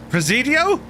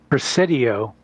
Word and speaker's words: Presidio: How do you pronounce this? Scott Presidio. Presidio.